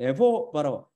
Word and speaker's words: 예호바: 우리 주 하나님의 이름이 예호바, 호의 액센트죠. 예호바로 발음된다는 결정적인 증거를 제공하였습니다. 우리 주 하나님을 거룩하신 이름은 예호바입니다. 둘째 단어의 호가. 히브리 사람들의 액센트를 굉장히 중요시 여겨요. 호의 액센트가 있습니다. 호의 강세.